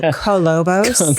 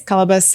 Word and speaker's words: Kolobos: of the movie exactly like colus you mean colobos colobos maybe is that like the California way to pronounce this so it's cabus apparently and we Flash back to our contestants